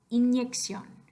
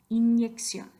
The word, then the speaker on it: inyección: Inyección. Inyección.